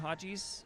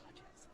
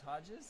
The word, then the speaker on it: Hodges: Team team Hajis up three to nothing after two. He knows like it's Hodgees. Oh, it's it's Hodgees.